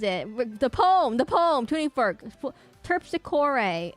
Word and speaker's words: Terpsichore: Terpsichore. It's pronounced terpsichore, not terpsichore.